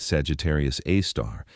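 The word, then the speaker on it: Sagittarius A*: Our galaxy's central black hole, Sagittarius AI, pronounced Sagittarius A star, has a mass of about 4 million suns.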